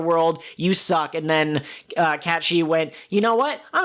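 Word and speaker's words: Cait Sith: Kate Sith? How do you pronounce it? I believe it is Cat She.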